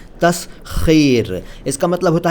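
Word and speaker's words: تسخیر: उच्चारण देखिए, तस्खीर नहीं, तस्खीर।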